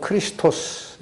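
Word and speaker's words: Χριστός: 헬라어로는 크리스토스 이렇게 발음이 되고 히브리어는 이게 바로 메시아입니다.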